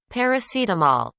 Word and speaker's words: paracetamol: and that's for anti-inflammatory paracetamol paracetamol paracetamol paracetamol completely different from what we have in spanish right paracetamol paracetamol paracetamol